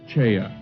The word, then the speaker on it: Choi: His name is spelled as Choi in English but pronounced Cha in Korean.